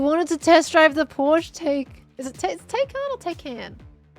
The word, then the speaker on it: Porsche: I should say Porsche as well, not Porsche.